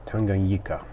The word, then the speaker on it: Tanganyika: Because there are so many people in the hobby who, pronounce it differently. So he said the locals call it Tanganyika.